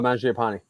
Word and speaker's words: Mangiapane: You got their top players, what, Mangiapane? Did I pronounce that right? Oh, Mangiapane.